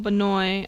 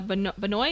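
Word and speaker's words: Benoit: Christopher Christopher Michael Benoy uh Benoy is how I pronounce it.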